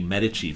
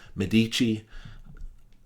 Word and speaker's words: Medici: and that was the medici family sometimes you'll hear uh pronounce medici i'll i will be saying medici but both are correct books that uh mean